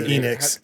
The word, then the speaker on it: Enix: to square up square onyx if they don't shape up. That that one got me pretty good. like how we just said it's pronounced Enix and you called it Onyx.